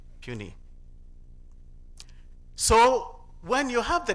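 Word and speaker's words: puisne: and at least two puny judges. It's spelled P U I S N E but it is not pronounced it's pronounced puny.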